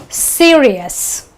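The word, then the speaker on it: serious: So you say fame-iss, Fame-iss, ver-iss, ver-iss, Cee-r-iss, okay, iss, and you say Ner-v-iss, Ner-v-iss.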